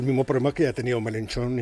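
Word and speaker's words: Mélenchon: Claro, hubiera sido el mismo problema que ha tenido Melenchón en en Francia, eh, o Melenchón, para pronunciarlo bien, en Francia.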